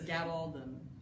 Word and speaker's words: Gabaldon: to line it up someone was nice and did the phonetic pronunciation of her name so it's Gabaldon okay well it's not